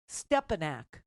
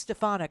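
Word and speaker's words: Stefanik: out uh this woman who we call stepanak at least stefanic I have to think about how to mispronounce her name he doesn't he cannot say her name he doesn't know her he's never learned her name and stepanak which is what he calls stepanic is supposed to be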